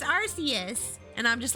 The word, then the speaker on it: Arceus: I think one of the movie dubs pronounced it Arceus. Like the word archaic. Yeah, Arceus.